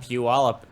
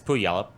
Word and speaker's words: Puyallup: But Puyallup is not actually how you pronounce it.